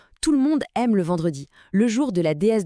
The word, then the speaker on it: vendredi: Pour la prononciation, c'est vendredi. Attention encore au son nasal en au tout début.